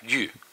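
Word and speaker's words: 玉: have jade, we have yu, yok. So yu is Y-U, pronounced Y-U, yu.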